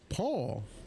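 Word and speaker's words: Pool: help with the pronunciations name spelled p o o l but pronounced Paul Paul Randon from erosio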